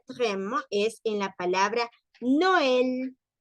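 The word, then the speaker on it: Noël: no el no el separamos y damos protagonismo a la o y damos protagonismo también a la e luego tenemos la el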